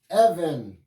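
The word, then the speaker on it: אבן: colocar aqui pedra em hebraico como é que se escreve al Bet nfit even even quer dizer pedra e a pedra ela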